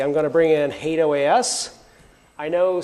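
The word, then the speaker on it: HATEOAS: hate OAS I know some of you may pronounce that differently but you're wrong I've worked on a product called OAS in the past and I can tell you hate OAS is the right pronunciation bringing the Hal browser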